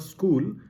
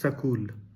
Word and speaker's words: school: And uh many many of us pronounce the word school as sakul.